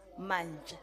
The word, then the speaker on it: Manche: It is always recorded as Manche, and it must be fixed in the papers. Manche, okay. Honorable Deputy Speaker, that's how my surname is pronounced, and that's how it's written, M-A-N-C-E, Manche.